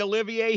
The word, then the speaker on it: Olivier: spelling of Sir Laurence Olivier's name a lot of people spelled phonetically so that it ends with an A Olivier like Olivia de Havilland